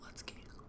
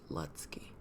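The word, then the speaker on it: Lutzke: talk about are by Chad letky I think that's how you say it l u t z k e letsky and it has a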